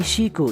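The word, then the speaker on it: 死: It's because Japan में number 4 और death दोनों के लिए एक ही वर्ड प्रोनाउंस होता है, शी।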